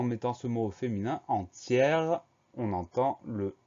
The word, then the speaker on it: entière: accent grave sur le premier E, on va prononcer le mot entière.